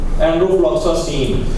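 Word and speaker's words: enrofloxacin: में लिखी है, और ये एनरोफ्लॉक्सासिन, सैन नहीं है, सीन है, सीन छोटी, ये सी नून साकिन सीन, एनरोफ्लॉक्सासिन। कुछ लोग जो है जो नए आए तो उन्होंने एनरोफ्लॉक्सासिन, ये चूंकि उर्दू में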